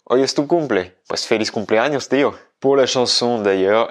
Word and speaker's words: feliz cumpleaños: Donc, si tu veux la prononciation espagnole, ça va bien être feliz cumpleaños, avec un petit TH anglais à feliz.